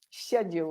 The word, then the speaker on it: schedule: Schedule. A very soft very schedule sound. Schedule. Yeah. And with the Americans, it's schedule. Exactly. So the Americans have that hard k, that k, that k sound.